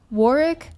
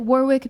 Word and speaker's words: Warwick: his PhD thesis from it's pronounced Warwick. I pronounce it Warwick because I refuse to acknowledge that the UK cannot remember to pronounce the extra W in the word.